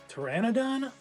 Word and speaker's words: Pteranodon: that's that's it and they just forgot the middle syllable middle syllable Pteranodon crazy that changes everything